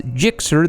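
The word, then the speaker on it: GSX-R: jets and floats gsxr pronounced and often spelled phonetically as gixxer the suzuki gsxr is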